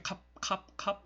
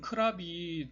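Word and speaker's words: ครับ: 이런 예의를 차려야 하는 그런 경우에는 평상시는 편하게 캅 이런 식으로 발음을 하다가 예의를 차려야 할 경우에는 크랍이라고 이야기를 합니다.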